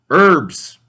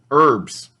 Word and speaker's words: herbs: samples avocados vendors sweets herbs the H is silent in herbs count now let's turn